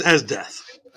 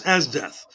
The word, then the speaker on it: Esdeath: His name is Esdeath, but when you spell it out, it says Easy Just doing the Death. circle. It's called what? Okay. Yeah, it's pause. It's spelled EZDETH. His name is Esdeath.